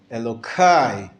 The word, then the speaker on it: Elokai: And so they're saying, Keli ata ve'odeka, Elokai, not Elohai, but Elokai. They changed the hey into the, and the aleph into a k sound, just to not pronounce the proper pronunciation of God's name, out of reverence to the name of God.